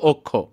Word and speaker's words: অক্ষ: যেমন এখানে দেখো আমরা অ এর পরে খিও হলে অ এর উচ্চারণটা ও এর মত করে হবে। যেমন প্রথম উদাহরণটা খেয়াল করো। এখানে লিখছি হচ্ছে আমরা অক্ষ। কিন্তু উচ্চারণটা হবে অক্ষ।